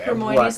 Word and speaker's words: Hermione: yeah, Okay, Hermione's what? name is like they pronounce it. It's almost like Herman, but it's not.